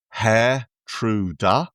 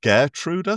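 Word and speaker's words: Geertruida: Apparently, it's pronounced Hair Truda. I've been calling him Gertruder throughout.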